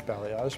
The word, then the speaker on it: balayage: People don't often know how to pronounce balayage, so how you say it is balayage, but a lot of